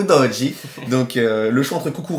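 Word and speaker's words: Udogie: de de fulam et udoi udoji on va prononcer italienne ou udi donc le choix entre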